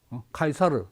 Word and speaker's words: 카이사르: 카이사르 원 발음이고 영어로 하면 시저지.